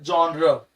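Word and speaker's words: genre: ये एक literary जॉनर है, इसको सही प्रोनाउंसिएशन जॉनर, इसको हम लोग जॉनर कहते हैं।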